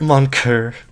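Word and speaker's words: mon cœur: Mon coeur. Not coeur. Here. I know how it's pronounced.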